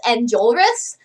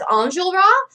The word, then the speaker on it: Enjolras: Okay, so for the longest time, I pronounced that guy's name as Enjolras, but now I'm starting to hear people pronounce it as Enjolras, and, like, that does sound more French, so I think that's the actual correct pronunciation.